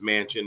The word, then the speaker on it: Manchin: funny the man's name last name is mansion and even though it isn't spelled like the actual mansion like a building it s it sounds it sounds just like it so somebody has the